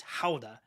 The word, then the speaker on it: Gouda: any any they don't call it it's not pronounced gouda in the Netherlands it's halda and so I didn't bring home any Hoda for her but I did bring home some